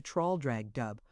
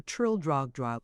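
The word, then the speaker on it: Traldragdubh: It contained a warrant for conducting me and my retinue to troll drag dub or trill drag drug for it is pronounced both ways as near as I can remember by a party of 10 horse.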